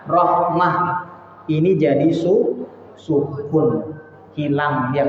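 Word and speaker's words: رحمة: Contoh, illa, kalau baca ibu berhenti di sini, jangan dibaca illa rahmata. Jangan sama kayak aliman hakimah. Tidak, tapi bacanya illa rahmah.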